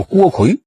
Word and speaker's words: 郭逵: 名字啊叫郭奎，耳道旁搁鬼字，也念为多音字。